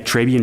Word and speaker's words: Trabian: JAISAL NOOR: Yeah, Trabian Shorters. AUDIENCE: Tray?